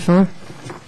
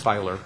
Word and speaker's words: Filer: other questions for Mr fur or filer did I say it wrong it's filer it is filer okay thank one question